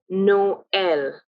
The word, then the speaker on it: Noël: top of and that is why we say Noël.